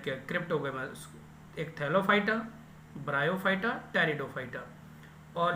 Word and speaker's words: Pteridophyta: तीसरा जो आता है टेरिडोफाइटा, पी साइलेंट रहेगा, टेरिडोफाइटा रहेगा, टेरिडोफाइटा रहेगा।